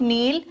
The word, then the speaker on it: kneel: Okay, now can you tell me whether K is needed here or not? See the spelling of kneel, K-N-E-E-L, and the past tense is given here, kneeled. So, K is needed here or not? Yes, we have to write K here.